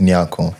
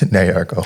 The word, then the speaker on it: Nyarko: And well, it's actually pronounced Nyarko. Nyarko. Yeah, in Ghana. Yeah, in Ghana, it's pronounced Nyarko, but over here, it's Nyarko.